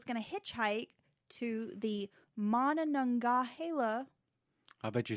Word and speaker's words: Monongahela: It's Monongahela. Monongahela.